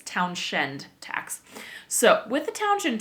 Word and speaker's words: Townshend: And that was the Townshend tax. And I believe it is spelled wrong in the notes. I double checked it. There are two N's. It is town, like a town, and then shend, S-H-E-N-D.